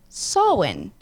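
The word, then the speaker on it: Samhain: 9th century the the Celtic Festival of sowin it's total win I've heard that before totally not spelled like that no but I guess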